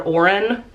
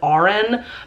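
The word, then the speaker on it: Aurn: R and or Orin I'm not quite sure how I want to pronounce her name the Audi book narrator pronounces it aurin but it's spelled a u r n so I want to say Orin but our main character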